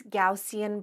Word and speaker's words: Gaussian: And of course, the next step is going to be a nice Gaussian blur. I know I pronounce it kind of weird, but that's actually the way you're supposed to say it.